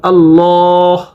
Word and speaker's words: আল্লাহ: জানবো আল্লাহ শব্দের ব্যবহার যখন আল্লাহ শব্দের পূর্বে জবর বা পেশ থাকবে তখন আল্লাহ শব্দের উচ্চারণ মোটা করে পড়তে হবে যেমন আল্লাহ রাসূলুল্লাহ সাল্লাল্লাহু আলাইহি ওয়াসাল্লাম আল্লাহ শব্দের পূর্বে যখন জের থাকবে তখন পাতলা করে পড়তে হবে যেমন বিল্লাহ এখন আমরা জানবো র